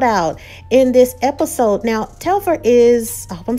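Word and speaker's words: Telfar: quick shout out to telfer i hope i'm pronouncing it right it was a quick little shout out in this episode now telfer is oh i'm saying it right it's a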